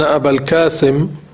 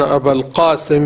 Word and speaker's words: أبا القاسم: البعض الذين هم من الإنجليز أو الأمريكان أو الفرنسيين في أول الأمر لا يعرفون النطق بالقاف، لأنه ليس عندهم قاف، فإذا قيل لهم قولوا أشهد أن أبا القاسم يقولون أبا الكاسم، لا يأتون بالقاف، فهذا لا يصح، لأنه ليس من أسماء الرسول، كنية الرسول عليه الصلاة والسلام أبو القاسم وليس أبا الكاسم بالكاف.